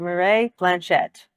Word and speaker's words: Mireille Blanchette: Mireille Blanchette. Did I pronounce that correctly?